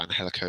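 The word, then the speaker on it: Angélico: A bit of Angelico, or Angelico is pronounced, like his technical side that he brings in as well.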